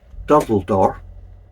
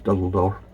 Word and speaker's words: Durdle Door: that was kindly donated by Adrian, and it's Durdle Door, or Durdle Door, but I think it's pronounced locally as Durdle Door.